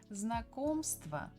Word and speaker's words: Знакомство: Знакомство. Знакомство. Знакомство. We stress second syllable.